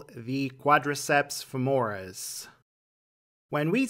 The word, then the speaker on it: quadriceps femoris: Let's start with the first muscle – the .